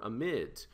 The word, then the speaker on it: amide: it's not an amine it's an amide or amid right so this this is an amide so a lot of people pronounce this amid all right so it's